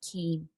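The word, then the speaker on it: caim: welsh word and it's it's c-a-i-m pronounced keem and it means sanctuary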